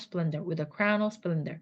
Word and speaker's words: splendor: 스플 하면 약간 원어민 발음이 좀 멀어집니다. Splendor. 쌍비읍처럼 S 다음에 나오는 P는요.